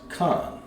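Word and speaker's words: כן: So yes, in Hebrew would be pronounced Khan. Khan means yes.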